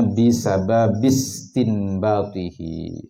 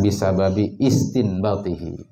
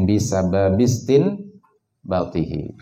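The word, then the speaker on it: بسبب استنباطه: Itu bacanya bisababis istinbatihi, diwasal, ya. Jangan bisababi istinbatihi, karena alif hamzahnya itu hamzah wasal. Jadi bacanya bisababis istinbatihi.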